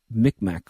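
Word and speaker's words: Mi'kmaq: Canadian and uh indigenous mcmack from Nova Scotia that's what that's how they pronounced it then I believe it's Mima now um but all I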